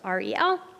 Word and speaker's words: Ariel: I know it's spelled funny to how it's said, but it is just reel. Super simple, three letters, pretty easy.